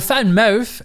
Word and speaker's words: VanMoof: big bulky ugly well the fan mouth as the dutch pronounce it there's nothing like that